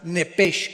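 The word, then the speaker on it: נפש: Digo, por favor, esta palabra alma en el original hebreo es la palabra nepes. Apúntala como suena nepesh con sh se pronuncia nepjeg.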